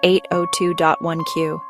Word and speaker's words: 802.1Q: The standard that defines how this works is called IEEE 802.1Q, pronounced 802.1Q.